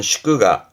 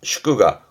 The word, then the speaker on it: 祝賀: 축하 발음은 슈끄가 슈끄가 음로는 가였습니다.